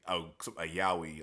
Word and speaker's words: yaoi: case of Twilight Out of Focus, it's a yaoi. That's how you pronounce it.